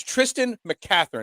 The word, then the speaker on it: Tristan McCathern: us here on trending in the am it's tristan mccatherine am i saying it correctly that's right all